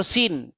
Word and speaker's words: Suen: Sin ya atau Suen bahasa Akadia atau bahasa Enzu ya dibaca dipronounce sebagai Suen atau Sin.